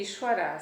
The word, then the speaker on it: Ishvara: Em sânscrito, ISV tem aquele acento, se escreve Isvara, Ishvara, o V, fica o som de U, Ishvara.